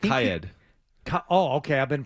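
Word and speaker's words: Kyed: In the meantime, Doug Kaid, I think he's I think Kaid Oh, okay. I've been pronouncing it wrong.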